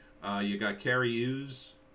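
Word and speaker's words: Cary Elwes: name uh you got carrie ooze is how you say that carry use use use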